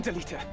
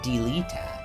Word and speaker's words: Delita: You know, I think I also tend to pronounce Delita's name more like I'm strong bad, annihilating a stupid email from my inbox. He's not Delita, he's Delita. That might be an accent thing for me.